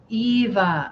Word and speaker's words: Eva: It's Eva. Okay, good. Okay. I always say Eva, but I've met so many Avas that have corrected me. So thank you. I like Eva.